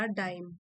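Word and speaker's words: paradigm: Adverbs होते हैं ज्यादातर पैराडाइम जी साइलेंट है पैरा पैराडाइम ये भी नाउन है।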